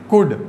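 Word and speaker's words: could: इज, एम, आर, was, were, has, have, had, कैन, कुड। बहुत सारे student इसको कुल्ड भी बोल जाते हैं जो कि रॉन्ग प्रोनाउंसिएशन है, इट्स कुड, कैन, कुड।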